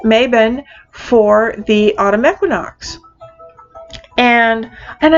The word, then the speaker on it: Mabon: for the summer solstice, and Mabon, which is how I pronounce it, Mabon for the autumn equinox.